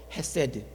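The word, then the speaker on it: חסד: 여러 번 강조했던 단어입니다 히브리 발음으로 세라고 하는 단어입니다이 발음 그대로 기억해 두십시오 세드 인자이 단어는 한국말로 번역할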